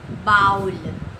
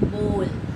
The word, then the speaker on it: bowl: अब बोल का बोल, BOWL, बोल, हम लोग इसको क्या प्रोनाउंस करते हैं? बाउल। So this is totally incorrect, बाउल नहीं होता है, इसका प्रोनाउंसिएशन होता है बोल।